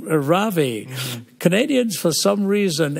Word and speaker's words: Ravi: Canadians, for some reason, ever since I've been here, like to go as a Ravi, you know, which is really not right. What is it? Yeah, it's technically Ravi. It rhymes with lovey and dovey, okay.